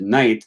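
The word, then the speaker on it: knight: using, which is why we spell the word night, K-N-I-G-H-T, even though it looks nothing like that. And because once upon a time, I think they pronounced the word night as knicht, right? And they spelt it that way, and that's the way that it sounded.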